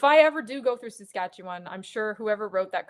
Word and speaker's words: Saskatchewan: How do you pronounce that? Oh, Saskatchewan.